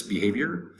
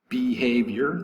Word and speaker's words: behavior: of behaving or acting behavior three syllables accent over the second syllable to noun manner of